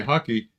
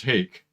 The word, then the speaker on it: hake: pronunciation these are hockey hockey rush also and i guess it comes from japan where the h a you know sake rhymes with hockey but the real the real pronunciation is hake and uh but hockey